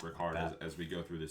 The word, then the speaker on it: Ricard: I believe it's going to be pronounced Ricard as we go through the season.